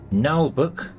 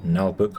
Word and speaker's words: Naheulbeuk: brand new game for the channel this is nbook that's how you pronounce that nbook I did look it up null book's dungeon